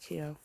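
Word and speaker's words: Keogh: I chased and the internet says it's pronounced Kio. All right. So her father used often to hunt them in out of the field with his blackthorn stick, but usually little Kio used to keep nicks and call out when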